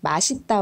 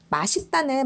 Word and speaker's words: 맛있다: 이렇게 고민하실 필요가 없구요 마 시 따 와 맛 있다 둘다 발음을 해도 된다 이렇게 기억을 하시면 되겠네요 4 여기서 중요한 것은 맛있다는 많이 쓰기 때문에 이거를 허용하고 있는 거고요 원칙적으로는 맛 있다가 맞다 라는 거죠 오늘은 맛잇다 발음에 대해서